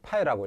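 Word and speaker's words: φ: 그 사인 뭐 R 사인 여기 안에 있는 이거 아, 이거 파이라고 읽어요.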